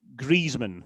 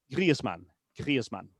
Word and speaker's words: Griezmann: Now, it's not Griezmann because first of all, the the mn is not pronounced min anywhere else but in England. So, it's man and then there is that little subtle e sound after the i. So, it's grieman.